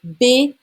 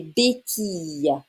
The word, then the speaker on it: béquilles: Il utilise des béquilles. It's a y sound. All right? Des béquilles.